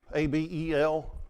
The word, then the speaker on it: Abel: I had the guy pronounce A-B-E-L. It's Abel.